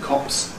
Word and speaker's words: copse: Notice that there's no difference in pronunciation between the two words cops. Police plural and cops kind of wood.